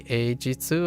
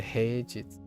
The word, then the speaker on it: heijitsu: So occasionally I chuckle to myself because I'm like, did I say eijitsu or did I say heijitsu? Because I need to pronounce the H.